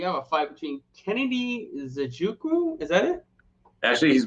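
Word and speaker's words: Nzechukwu: the prelims we have a fight between kennedy zajuku is that it actually he's been on my show twice and i remember he told me because i asked him it's properly pronounced enzochukwu and okay that's how we pronounce it everybody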